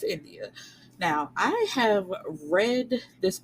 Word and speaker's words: Endiya: I hope I'm saying that right because her name is spelled Endiya. So I believe it's India.